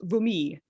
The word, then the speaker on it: vomit: anglo-french word vomit probably if you're speaking french it's actually pronounced vumi shakespeare does use the